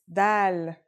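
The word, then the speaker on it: دال: Our first letter is dal. It's just like the English D.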